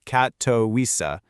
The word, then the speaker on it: Katowice: Well, in a city in southern Poland called Katavitz, and by the way, it's pronounced Katoisa, there's this one event that is just flipping that whole idea on its head.